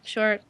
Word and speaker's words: Shure: Yeah, Shure.